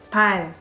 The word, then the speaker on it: 발: If the Korean letter is positioned as last consonant in a syllable, it sounds more like R. Let's give it an example of 발.